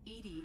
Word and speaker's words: EDI: Edie is the phonetic pronunciation of EDI.